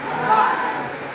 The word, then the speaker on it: bus: apa Bu bas atau tulisannya bus bacanya bas kalau topologi yang lingkaran